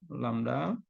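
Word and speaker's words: λ: Ini Y terbalik ya, bacanya lambda.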